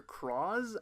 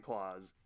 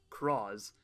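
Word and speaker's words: Cross-Z: It's written out in the katakana like claws, and so everybody thought it was going to be claws, and then we found out that it was it's spelled in English like a cross Z, but still pronounced Cross.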